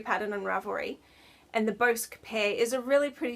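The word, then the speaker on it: Bosc: Okay, so then once that was finished, I started swatching for a shawl pattern called the Bosque Pear Shawl by Tatiana.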